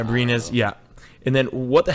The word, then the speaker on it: Abrines: was OKC Thunder sign Alex Abrines. Who the hell is that? Abrinas. Yeah, Abrinas. Yeah. And then what the hell does that mean? Well, he says, great questions. Abrines is a former second-round